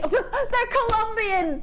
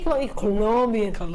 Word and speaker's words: Colombian: emerald from Colombia that's you can't just say colian Colombian emerald you have to say it like that when you get